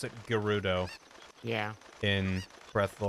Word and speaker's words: Gerudo: the game like yeah there he goes it's pronounced gerudo it's true to me it's all french to